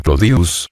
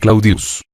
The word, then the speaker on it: Claudius: Claudia deseoso de popularidad decía llamarse codius que era como el pueblo la mayoría pronunciaba el nombre claudius la simplificación del diptongo o es rasgo propio del latín vulgar la palabra española oro